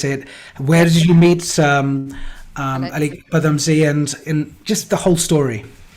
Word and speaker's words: Alyque Padamsee: And how do you pronounce it? Alyque Padamsee? Alyque Padamsee. Alyque Padamsee.